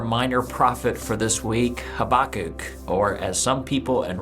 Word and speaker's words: Habakkuk: But anyway, it's Habakkuk, or at least that's my understanding of how his name is pronounced.